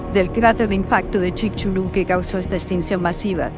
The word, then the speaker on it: Chicxulub: Chicxulub. Y al fin voy a explicar cómo se escribe. C-H-I-C. Chic. X-U-L-U-B. Chulub. Chicxulub y su población, que